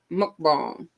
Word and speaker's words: mukbang: Is it mukbang? Did I say it right, I, Alita? it, She posted it up here. Alita hangs. She hangs in there with us. Alita still there. Mukbang. I guess that's it. Mukbang. I'm Thank gonna you, have. Alita. Oh, I said it right.